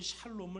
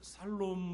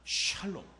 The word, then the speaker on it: 샬롬: 우리에게 매우 익숙한 말이죠 어떤 분들은 샬롬 을 살롬 으로 잘못 알아들어서 살롬 있으면 죽을 놈 더 있냐 이렇게 농담으로 물으시는 분들도 있는데요 살롬 이 아니라 샬롬 입니다 한번 따라해 보시기 바랍니다 샬롬 취 발음을 잘 하셨